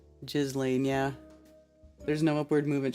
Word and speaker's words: Ghislaine: Ghislaine is the correct pronunciation for sure. Ghislaine, yeah.